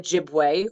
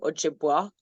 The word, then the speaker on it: Ojibwe: we are part of Ojibwe Ojibwa however you want to pronounce it as like a whole